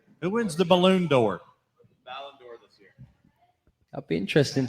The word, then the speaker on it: Ballon d'Or: Who should win the Balloon d'Or? Say it again. Balloon. Ballon d'Or? I'm saying it wrong. Ballon d'Or.